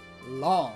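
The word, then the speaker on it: Luong: Long.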